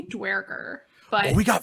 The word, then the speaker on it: Duergar: Okay, so that's the question I have, because beforehand Trovus said Dwegar and I said Duergar. Which one do you say? I say Dwerger, but we got 3 of them.